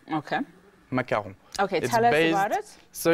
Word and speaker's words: macaron: saying it right Macau macaron be careful McCune is our president Oh macaron is something based with coconut macaroons is something based about with coconuts this is a macaron okay macaron okay so it's a